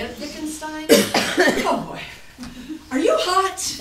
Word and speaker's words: Wittgenstein: That's how they say it, Wittgenstein.